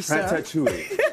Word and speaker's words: Ratatouille: when I said Ratatouille it's not ratou ratat ratou Ratatouille so tell us about